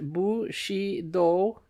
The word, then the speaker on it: Bushido: understanding feudalism and Bushido footnote pronounced bu she do in putting Japanese words